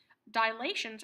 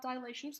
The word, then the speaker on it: dilation: couple of things about dilations that we need to remember the first one is that dilations yes it's it's pronounced dilation not dilation there's no extra a dilation is centered at